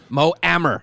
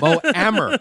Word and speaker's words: Mo Amer: Mo Amer.